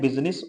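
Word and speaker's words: business: आई silent होता है तो दो वर्ड ऐसे हैं एक है बिजनेस और दूसरा है पार्लियामेंट जिनम आई साइलेंट होता है आगे देखें कि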